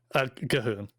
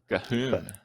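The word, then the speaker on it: Ghuun: and Blood of Goon and Goon the Blood God. Am I pronouncing that right? Gahoon. Gahoon.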